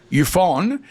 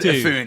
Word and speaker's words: Efune: Someone said to me, just think of a dove. Efune.